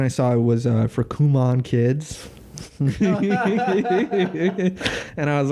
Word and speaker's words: Kumon: This is Kumon is how you really pronounce it.